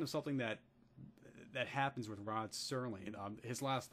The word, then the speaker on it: Rod Serling: And also my pronunciation of Rod Serling as Rod Sterling, and I have, but